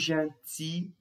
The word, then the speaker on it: gentil: Tomem cuidado aqui nesse caso, porque o adjetivo a gente não pronuncia os L's, tá? Isso aqui é uma exceção. Gentil. Normalmente os L's no final de uma palavra, os L's são pronunciados. Porém, nesse caso aqui, nós temos uma exceção.